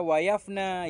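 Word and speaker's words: ويفنى: Ma kullu ma fata wa yafna yulfa. Wayafna, ya, wayafna bacanya.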